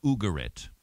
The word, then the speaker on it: Ugarit: This was from the ancient Canaanite city of Ugarit. Unless you're from the south, then it's probably Ugarit, because they tend to put the accent on the first syllable.